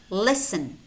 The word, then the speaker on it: listen: also have words which contain the letter T but it's not pronounced it's silent Castle castle kitchen kitchen although you could say kitchen and that's fine but native speakers say kitchen listen listen mortgage mortgage entertain